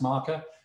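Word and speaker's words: Markr: Ian slow from marker ma RK are but pronounced marker who is here to pitch us a bespoke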